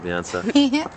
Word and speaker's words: Viansa: onia in vion Vian viona viona viona that's right viona yeah that's the correct way of drinking it yes